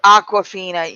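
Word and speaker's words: Awkwafina: fond of who's uh is that how you pronounce that name Aquafina yeah yeah like the water bottle then why didn't why'd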